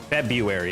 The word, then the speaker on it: February: was born in February February is how I say it I don't think I ever pronounced the r in February I think pineapples are